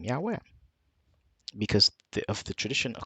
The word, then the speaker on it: Yahweh: by scholarship when Scholars have uncovered the correct pronunciation the name Yahweh and of course some people debate this and